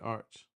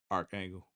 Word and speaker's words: Archangel: You know who made it, Arch? I keep saying Arch, but Archangel. Archangel. I keep saying, I told you I'm gonna say words just like knife, arch, because it's spelled arch, but no, archangel.